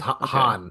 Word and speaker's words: Han: Smuggler he's a he's a convict it's it's pronounced Han Han Solo oh conflict conlict yes very good